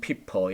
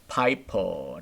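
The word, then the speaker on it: Piper: 이럼 낯설고 제가 이제 독일 사람으로 독일 출신인가 보다 어쩜 p 퍼 이렇게 생각했는데 파이퍼 라고 발음한다 고 있더라구요 그 시절 볼 수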